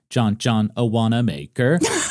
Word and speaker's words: Wanamaker: Even John Wanamaker, the department store owner who had given her financial backing, became an enemy. Excuse me, his name's pronounced John Wanamaker. I am so sorry.